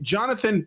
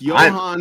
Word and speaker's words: Johan: So Jonathan Pilestedt, I think that's how you say it. I apologize. I thought it was Johan. I think it's Johan. Johan, you're right. It's Johan Pilestedt.